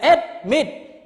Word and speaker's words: admit: the example okay admit so you cannot say admit no is it admit so admit submit is the second syllable the last syllable we stress on the